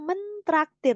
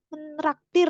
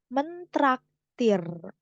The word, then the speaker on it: mentraktir: traktir jadinya mentraktir Nah ini hati-hati nih sering banget ya ngomong aku meh menraktir gitu ya aku mau Menak Padahal kalau menraktir itu bahasa Jawa kalau pakai T dia bahasa Indonesia yang baku mentraktir bukan menraktir nah itu ya berikutnya